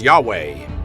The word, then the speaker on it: Yahweh: stylized version of YHW, the Hebrew name for God, pronounced Yahweh.